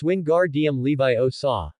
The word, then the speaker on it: Wingardium Leviosa: Seeing Harry and Ron still chanting the spell, but their feathers remained unmoved, she urged, "It's 'Wingardium Leviosa'. The 'gar' part needs to be pronounced long and clear.